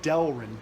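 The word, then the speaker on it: Delrin: just looked back at the note this is pronounced delin d l r i n it reminds me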